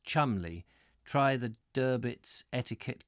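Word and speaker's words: Cholmondeley: like how the surname Cheol Monde orally is pronounced Chumley try the der bits etiquette guide for some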